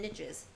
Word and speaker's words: niches: Number 3, be open to different populations and niches. Niches? I always pronounce that word wrong. I always say it wrong. I'm always like, yeah, what's your niche? Niches? And people are like, there's no T.